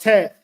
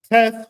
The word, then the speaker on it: Teth: Hebrew word to which means good right but pronounced teth teth holds a paradoxical def of both good and